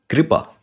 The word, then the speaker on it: कृपा: ऋ ऋ स्वर है तो कृपा इसको जब हम खोलेंगे तो क उसके बाद ऋ और फिर प और फिर दीर्घ अ कृपा यह चीज है कृपा